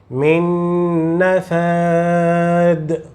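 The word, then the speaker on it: من نفاد: Na pronúncia dessa, alonga o som nasal. Min nafad.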